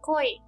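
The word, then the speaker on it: こい: If we combine co and e, we get the word koi which means c or as in fall in love.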